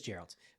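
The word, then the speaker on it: Geralt: It is Gerald.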